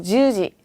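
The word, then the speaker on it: じゅうじ: 그죠, 주지. 그쵸, 발음 주의하셔야 돼요. 주지가 아니라 주지, 장음으로 발음해 주셔야 돼요.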